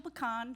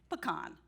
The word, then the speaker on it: pecan: did a survey, and 70% of Americans say pecan. So if you raise your hand first, you are in the majority. I am from Middle Georgia, so I am with the latter group. I say pecan. So that's my first slide. It's pecan, but I will defer to my grandfather, who used to tell me it's pecan when you pick them, pecan when you sell them.